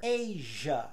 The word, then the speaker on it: Asia: em inglês por exemplo measure Asia então repara que o i não se fala e o s tem som de j e usually e várias palavras